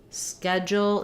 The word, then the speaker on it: schedule: I have a tight schedule um so tight unreleased T schedule in American English has the ksk blend schedule the DU has a j sound schedule and then we go